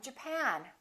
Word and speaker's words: Japan: at the next one did you say japan or japan in this case it's the second syllable i'm from japan i'm from japan let's